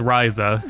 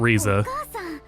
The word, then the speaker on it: Ryza: It's Risa. It's not Reza.